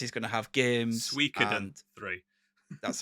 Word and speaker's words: Suikoden: Suikoden 3. That's how you pronounce it.